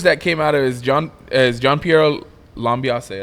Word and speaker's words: Gianpiero Lambiase: Because the verbiage that came out of is Gianpiero Lambiase, right?